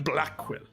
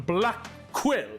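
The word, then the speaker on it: Blackquill: proper way to answer Simon Blackwell uh actually it's pronounced Simon I said Simon black quill are you here or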